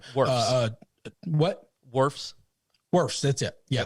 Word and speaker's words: Wirfs: I always mispronounce his last name. Wirfs.